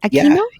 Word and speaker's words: Aquino: Am I pronouncing your last name correctly? Is it Aino? Yeah, that's perfect.